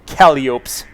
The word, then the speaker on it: Calliope: the status of his Calliopes. I like to mispronounce that word sometimes just because it's fun to say it that way. I know, it's Calliope.